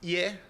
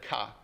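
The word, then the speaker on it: 家: In Japanese it's pronounced ie when read alone. When read in a compound like this, it's read ka. Or it can be read ke as well.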